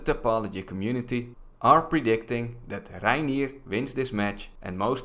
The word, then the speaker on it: Reinier: 34-year-old from the Netherlands, Reinier de Ridder. That's how you say his name in Dutch.